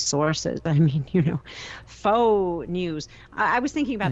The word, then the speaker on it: faux: i mean you know faux news i was thinking about that today faux news f-a-u-x pronounced foe well it's foe news isn't it it's it's faux news